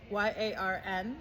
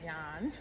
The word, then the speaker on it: yarn: a yarn about dissociation y a r n of course here in Australia you'd say yan yan we Americans might be likely to to pronounce it as yarn but I'm fascinated with